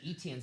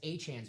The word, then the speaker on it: Etienne: They have I was gonna say Etienne's brother, Travis Achan's brother, Trevor. Achan. Yes. Not Etienne. Yes, it's yes, Achan. yes. That's how you say it, like the Von Achan.